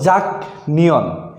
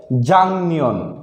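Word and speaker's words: 작년: জাং নিয়ন আগে ছিল, পূর্বে ছিল জাক নিয়ন, এবং এটা লেখাতেও পাবেন জাক নিয়ন। কিন্তু আমাদেরকে সঠিকভাবে শুদ্ধভাবে পড়তে হলে পড়তে হবে জাং নিয়ন।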